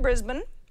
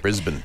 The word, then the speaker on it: Brisbane: So we got an email from Pam in Brisbane. That's how they say it down there. Brisbane.